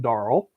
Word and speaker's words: Darrell: Darrell Wyatt, pronounced his name Daryl the last time around because I work with a guy named Daryl and talk to him all day long. But Darrell pronounces his name Darrell, and he says love, kindness, and faith.